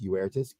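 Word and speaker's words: Uirtus: I need you to pronounce the name in Latin. In Latin, Uertus Edecus. Uh-huh. All right, Uertus, U-I-R-T-U-S, Uertus, can be translated either honor or excellence.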